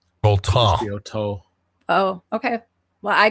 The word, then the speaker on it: Autun: You wouldn't pronounce the N. Auton.